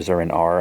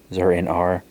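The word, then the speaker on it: Zur-en-Arrh: Zur in Ara, so, or Zur in R, I think is how it's supposed to be pronounced. Zur in R.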